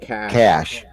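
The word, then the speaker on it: cache: your case yeah okay USA English cash cash cash well thanks catch ya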